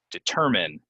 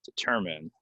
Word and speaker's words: determine: you can't watch it determine determine stress goes right here determine determine determine today we're trying to